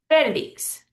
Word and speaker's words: Felix: But the man's name Felix is spelled almost the same way, just with an X instead of a Z, but we pronounce it Felix.